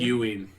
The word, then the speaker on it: Ewing: Ewing.